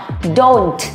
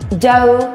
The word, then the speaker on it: don't: Thứ hai là âm T này mình sẽ không gì nhỉ? Không phát âm, tức là âm này sẽ bị câm. Vậy cô sẽ nói, nào, thành I don't know.